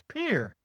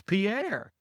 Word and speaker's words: Pierre: Luckily, in North Dakota, I discovered that they pronounce that as Peer, Peer. And when I grew up in 5th grade and we all had to learn the capitals, I Yeah. mean, we learned that as Pierre.